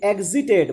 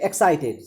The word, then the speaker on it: exited: First word, that is exited. My dear students, very often students pronounce it excited. So it is not excited, it is exit.